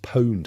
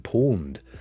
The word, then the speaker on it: pwned: say last night that it's pronounced pwned I've been saying pawned because I thought it was what it meant like you know down at the pawn shop I don't know I